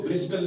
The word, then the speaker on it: bristle: Silent means खामोश रहता है, ठीक है? जैसे BRISTLE, इसको ब्रिस्टल नहीं पढ़ते हैं, इसको ब्रिस्टल नहीं पढ़ते हैं, क्यों?